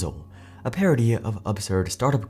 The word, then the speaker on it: Gryzzl: I dunno if you guys have seen Parks and Rec, but this reminds me of the fictional telecom company Gryzzl (Pronounced Grizz-ill), a parody of absurd startup culture.